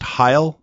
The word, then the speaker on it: Heil: If you were right now, you use is it pronounced Heil? It's a Heil microphone, right?